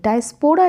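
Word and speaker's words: diaspora: डी आई ए एस पी ओ आर ए डायस्पोरा इसको नहीं pronounce करना है ड पर टी आई ए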